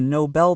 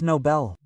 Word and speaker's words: Nobel: The Nobel Peace Prize. And pay attention to the pronunciation there. In Sweden, it's Nobel. Nobel is an English pronunciation, but there in Sweden, the language is Swedish, right?